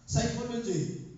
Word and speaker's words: psychology: 'di ba o tsunami T is silent honest is silent ba psychology silence psychology P o tama P o knife